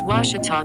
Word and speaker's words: Ouachita: It's Washita Baptist University. Get it right. It's Washita, people.